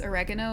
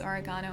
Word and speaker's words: oregano: Also, yes, oregano is oregano in Australia. I am pronouncing that right as an Australian.